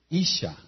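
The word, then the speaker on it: אשה: Y mujer es Isha, Isha. I-S-H-A. Y se escribe con una Hei.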